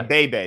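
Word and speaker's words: Beebe: Is that how you pronounce his name? Is it just BB? Cooper Bebe? Yeah, Bebe.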